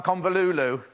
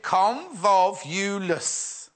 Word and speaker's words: convolvulus: People complained about my convolulu. Oh, there we go. Oh, hang on. You pronounce it convolvulus. Convolvulus. What did I call it?